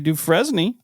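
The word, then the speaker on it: Dufresne: example September 2003 Ray I'm going to not pronounce this right do du fresne Ray du fresne yep that's it of wusi Vermont was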